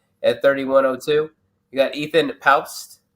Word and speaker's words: Paupst: You got Ethan Paupst. I guess you do pronounce the P according to him when I heard him pronounce his name.